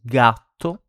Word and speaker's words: gatto: So same as before, when it's followed by the consonant G, when it's followed by A, O, and U, so A, O, U, it's pronounced like G. So gatto, cat, gusto, taste.